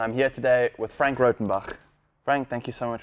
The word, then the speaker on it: Rautenbach: Perfect pronunciation. Got it right. Rautenbach, you did it. I was nervous about that because we spoke on the history of it and there was 5 different options.